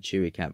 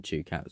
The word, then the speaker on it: Chewcat: They always said Chewy Cat, but I always pronounce it Chewcat, so we're just going to ignore my sensibilities, like I said.